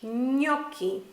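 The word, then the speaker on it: gnocchi: of the yummy dish knocking no knocking the sound almost sounds like an N and a wide squish together and said really quickly yeah the next special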